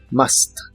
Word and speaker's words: must: must not en inglés la pronunciación de must es muy simple la u se pronuncia como una a normal de español must must y la o de